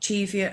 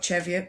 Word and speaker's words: Cheviot: because i have got cheviot as well or cheviot whatever you want to call it i call it cheviot because i'm a lazy speaker i say as it sat as it's spelt same as scissors okay